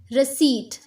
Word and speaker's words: receipt: P is silent. Receipt, not receipt, receipt.